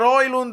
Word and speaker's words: Højlund: Mi sono divertito nella reaction, se vuoi andare vicino alla pronuncia, insomma, più nordica, puoi raspare, tu rasp, vabbè. Però sì, Højlund, proprio se lo leggi con la J come se fosse una I, è difficile dire Højlund. Perché dire Højlund?